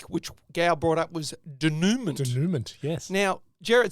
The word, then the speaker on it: denouement: It's not denouement, it's denouement. Oh. Yeah. So I want to apologise to the people of France. Yes. So it's a denouement is how it's pronounced.